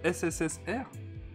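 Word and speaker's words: СССР: je me souviens bien, ça se prononce SSSR. D'accord, ok, c'est pas du tout intuitif.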